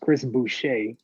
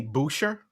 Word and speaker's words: Chris Boucher: just going jordan clarkson um mine it's actually pronounced chris boucher uh what did i say booster booster chris um that's my sixth man